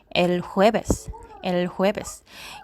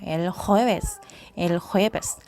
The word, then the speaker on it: el jueves: el jueves. 요 그 호따 발음이 그냥 영어처럼 J 발음이 아니고 헛다 이제 약간은 목을 긁는 소리가 나잖아요. el jueves.